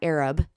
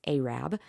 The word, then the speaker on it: Arab: And for those of you that don't live in North Alabama, it's not Arab. It's spelled Arab. It's Arab. So we were going to